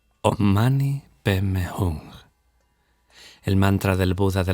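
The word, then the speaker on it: om mani padme hum: resucitar de inmediato un mantra como on mani pmum que los tibetanos pronuncian omani pem hung el mantra del Buda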